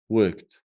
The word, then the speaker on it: worked: "Worked" in this case is pronounced as a "t": "worked."